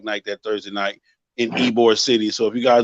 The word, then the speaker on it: Ybor: I'm hosting a bike night that Thursday night in Ybor City. So if you guys don't know anything about Ybor City, or Ybor, it's spelled, I think, YBOR, but they call it Ybor.